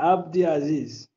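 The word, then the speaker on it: Abdiaziz: How do you pronounce your name? Abdi Aziz Abdi. So was I close? Abdaziz. Was I close? Abdaziz. Yeah, Abdaziz. Abdaziz.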